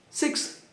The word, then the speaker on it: sixth: Então é six. Six. Sixth. Sixth. São dois sons, não é mesmo? Sixth. Dá uma assopro no final.